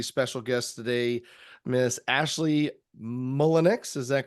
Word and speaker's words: Mullenix: If you are new here, I am actually joined with a special guest today, Miss Ashely Mullenix.